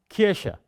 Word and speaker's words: Kirche: It is between sh and between h.